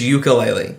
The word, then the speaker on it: Yooka-Laylee: It's just ukulele. Because Banjo and Kazooie are both instruments.